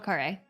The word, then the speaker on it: Khare: It's Michelle Khare. Okay. Oh, it's pronounced Khare.